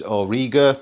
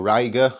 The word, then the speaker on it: Auriga: of my favorite uh constellations auriga or ryga however you want to pronounce it uh the big pentagon